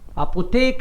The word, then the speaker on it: Apotheke: Take है इसलिए बोल रहा हूं क्योंकि एच साइलेंट रहता है बीच में आए तो, इसलिए अपोतेक है बोला, थे नहीं बोला ना.